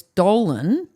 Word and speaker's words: Dolan: name so I said it's Dolan rhymes with colon and then I did